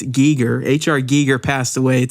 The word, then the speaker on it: Giger: Swiss artist HR Giger I know some of you may have pronounced it Gyer but supposedly it's Giger HR Giger passed away